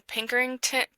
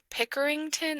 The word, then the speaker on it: Pickerington: Brian grew up in Pinkerington Pickerington, Ohio, I think is how you say it, a suburb outside of Columbus.